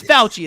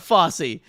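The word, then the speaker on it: Fauci: offense william but like yeah yeah um it's pronounced shut up nick it's not it's fouchy it's not fosse um but anyway um walked away for one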